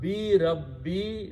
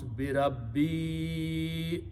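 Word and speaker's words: بِرَبِّي: So previous letter of weak letter has to be pronounced with a long mad. So you have to pronounce bi rabbi ahada.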